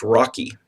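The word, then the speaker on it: ROCE: on Capital employed it's abbreviated rce and it's pronounced Rocky um the it this measures the profitability of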